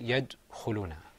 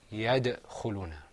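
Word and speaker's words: يدخلون: Allah bless you now I notice that some of us we were pronouncing the word he had to who Luna we were saying yet who Luna technically the right way to say this to say is to say yeah the whole Luna okay so let's practice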